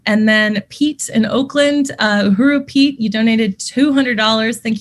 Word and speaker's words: uhuru: 100 commitment um and then pete in oakland uh uru pete you donated 200 thank you so much